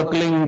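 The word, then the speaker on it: क्लीं: एक शब्द क्लीन शब्द क्या आधा ला में मिला हुआ, बड़ी एक ही मात्रा और बिंदी, उसका उच्चारण होगा क्लीन गा। गा की ध्वनि निकलेगी पीछे।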